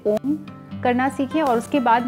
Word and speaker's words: ओम: बोलते हैं बट इसको सही तरीके से जब उच्चारण किया जाता है तो यह ओम होता है ठीक है तो अब हम तीनों